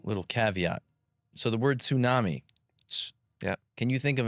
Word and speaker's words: tsunami: Because TS is a phonotactic constraint in the English language. And tsunami is not a native English word. I'm not sure where it comes from, the etmology of it, but you don't have TS.